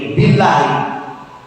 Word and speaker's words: billahi: Wa-nya itu kalau dibacanya jadi wallahi. Ta-nya itu kalau dibaca jadi tallahi. Ba-nya itu kalau dibaca jadi billahi.